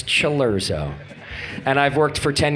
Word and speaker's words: Cilurzo: one of only three people on Earth that pronounce his last name correctly chero right it is not salero it is not Kera it's luro and I've worked for 10 years to get